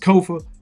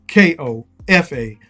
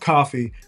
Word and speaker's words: Kofa: Once again, I've been your humble host, Kofa, K-O-F-A, not coffee, not, not Kofi, or any variation thereof. Kofa rhymes with sofa, easy to say, easy to spell.